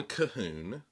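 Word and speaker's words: Colquhoun: to a wonderful quote John cahun and it's spelled c o l quu h u n this has been the the year of John cahon because Reformation Heritage republished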